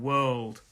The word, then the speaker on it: world: So a lot of people have problems with this r and l sound, r and l sound.